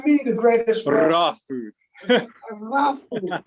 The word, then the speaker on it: Ra: Raw food. So when you hear me say raw, it's my accent, but it's spelled R-A. So a lot of people see R-A and they say raw.